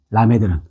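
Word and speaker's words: למד: 라메드는 자 라메드 요렇게 돼요.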